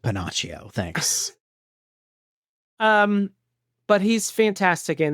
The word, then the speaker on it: Pinocchio: It's pronounced Pinocchio.